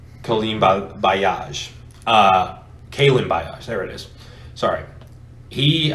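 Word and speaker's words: Kalen Ballage: him you just have jalen samuels and uh colleen by i can never say his name correctly pauline uh kailyn bios there it is sorry he uh gunner for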